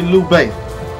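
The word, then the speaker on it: Lü Bu: a few moments later okay so it's actually lou bay i hope i was not missing for him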